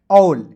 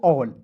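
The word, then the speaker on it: all: तो यहां पे समझिएगा ए है तो इसका उच्चारण औ के रूप में करेंगे। अब क्यों करेंगे? क्योंकि ए के तुरंत बाद क्या है? डबल एल आया। तो इसका उच्चारण ए का उच्चारण औ के रूप में किए किए। ठीक है जी? और डबल एल है तो इसका उच्चारण ल के रूप में करेंगे। हो जाएगा ए डबल एल ऑल।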